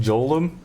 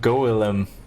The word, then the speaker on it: golem: republicans on this one stop saying joel it's pronounced golem i see thank you